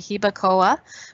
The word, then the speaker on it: Jibacoa: She wasn't sure how to spell it. So it's actually Hibacoa, which is Jibacoa.